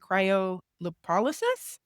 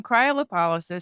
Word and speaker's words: cryolipolysis: I can't even pronounce this word. Can you do that for me? Cryolysis. Yeah. So, cryolipolysis.